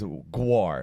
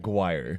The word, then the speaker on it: Jaguar: No, it's Gu, not guire.